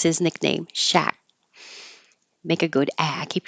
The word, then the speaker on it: Shaq: It's also the way Shaquille O'Neal pronounces his nickname, Shaq.